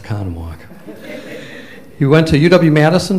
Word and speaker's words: Oconomowoc: I was long enough in Wisconsin Ike it's pronounced Oconomowoc he went to UW Madison for all three